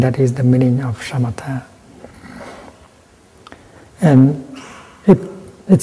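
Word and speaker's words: शमथ: And the Buddhist term for stopping is shamatha. In Pali, samatha. With this, you pronounce like shamatha.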